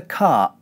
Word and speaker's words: cart: If you listen carefully, you'll notice that when I say cart, I close my glottis at the end of the vowel. When I say car, I keep my glottis open at the end of the vowel. Listen again. Drive the car. Push the cart. The reason for this is that cart ends with a t consonant. Whenever the t consonant comes at the end of a syllable, we squeeze our glottis closed in this way.